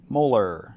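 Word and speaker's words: molal: we pronounced it how molar we dropped the ity for mity lowercase M we do the same thing so say it with me that would be mol so this is a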